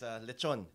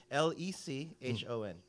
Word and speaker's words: lechon: I guess lechon.